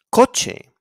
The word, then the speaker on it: coche: So it's pronounced like a K when it's followed by an A, O, or U, like in casa, coche, and cucaracha.